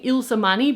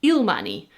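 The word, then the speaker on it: Ilsemanii: I'm saying Ilsmani because Ila is a common Dutch name, but I was just watching a Kilan video and she was saying Ilmani because in English is written as like I L E.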